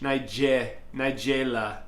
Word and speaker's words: Nigella: look it up so the pronunciation is niga n i was close Nigel Nigella n n AI J e h nigela hold on we're going